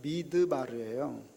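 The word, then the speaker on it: מדבר: 여러분, 광야는 미드바르예요. 미라고 하는 그 접두사가 붙으면 이제 다바르가 미드바르로 이렇게 발음이 되는데, 미드바르는요, 말씀이 있는 곳이에요.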